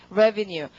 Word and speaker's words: revenue: 발음이 강세가 바뀌죠? 발음은 revenue.